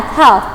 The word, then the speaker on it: half: keeping you in mind the letters in this word al is silent we can't pronunciate it okay at half past two okay so